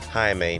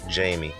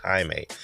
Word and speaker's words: Jaime: his last name, but his first name is pronounced Jaime, not Jamie. I mean, yes, it's Jamie as far as in a English term, but in Latin terms, it's pronounced Jaime. So Jaime Morgana, that's his